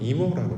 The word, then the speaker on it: 고모라: 대표적인 것이 소돔과 고모라 할 때 고모라입니다. 고모라가 아니라 원래 원어를 살펴보시면 이모라고 되어 있습니다. 그런데 여기에 자음이 붙어져 가지고 고모라 우리가 이렇게 발음하고 있는 것뿐이지요.